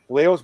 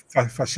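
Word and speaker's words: Vallejos: valos is it wrong fos fos yeah because the Double L in Argentina is so it's fos all right I I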